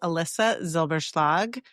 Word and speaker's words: Elissa Zylbershlag: Well, my name is Alyssa Zilberg. As you know, that can be a hard name to pronounce.